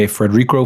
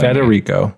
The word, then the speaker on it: Federico: So we did 8.5 by Frederico Fellini. Yeah. And Federico Fellini. Federico.